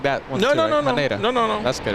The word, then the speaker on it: Haneda: Don't tell me I'm mispronouncing that one. No. Haneda.